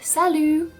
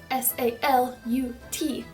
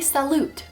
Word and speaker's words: salut: member, you're gonna say salut, S-A-L-U-T. Now, as you can probably tell from what I just said, the T is silent. You do not say it.